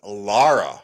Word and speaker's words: Lara: said it wrong it's Lara Lara thank you laa so many people say Laura it's not Laura there's no you it's